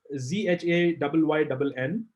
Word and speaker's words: Zhayynn: Shane nothing. It's one word. Zhayynn James Photography. Yeah. Don't pronounce his name as SHANE. It's ZHAYYNN.